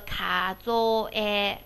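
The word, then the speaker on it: 数え: 后面是カゾ，然后这个数字读作一个カゾエ，カゾエ，就是数的意思啊。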